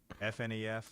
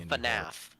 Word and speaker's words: FNAF: at Freddy's no no Five Nights at Freddy's fnf is pretty iconic no it's called FNAF noted FN no it's FNAF got it FNAF